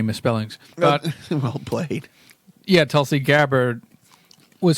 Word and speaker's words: Tulsi Gabbard: Oh, Tulsi Gabbard.